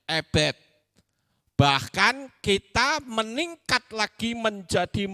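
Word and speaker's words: עבד: Ayin, bet, dalet. Itu bacanya ebed.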